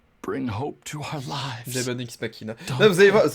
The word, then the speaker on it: Demon X Machina: Demon X Machina. Là, vous allez voir, non mais le X, il faut pas le prononcer.